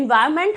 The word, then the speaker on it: environment: इन्वायरमेंट जब आप बोलोगे, इन्वायरन आता है, इन्वायरमेंट हम लोग बोलते हैं, इसमें एन नहीं प्रोनाउंस करते हैं, लेकिन स्पेलिंग जब